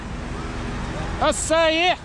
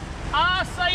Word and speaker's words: Açaí: Açaí! Açaí, açaí! Eu tenho que falar igual a você. I have to say it like you.